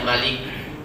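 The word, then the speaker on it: مَلِك: Maliknya kan pendek linya, Malik.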